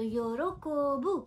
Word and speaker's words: yorokobu: be delighted or pleased So -yorokobu- rhymes with -konbu- thus they have made this connection and this food symbolizes, happiness, joy and good mood.